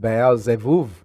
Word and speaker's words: Baalzebub: It actually is pronounced Baalzebub. The B's are actually, the B's are pronounced as V's.